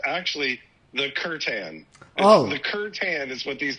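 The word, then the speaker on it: C'tan: I was calling the star gods the satan because that's how it looks like it's pronounced to me.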